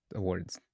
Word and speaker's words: Awwwards: So for our last community announcement, uh Awwwards launched their annual awards site this month. And if you're not familiar with wait, is that how you pronounce it?